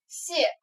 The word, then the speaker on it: 泻: 首先第一个字读作泻，泻药也是一泻千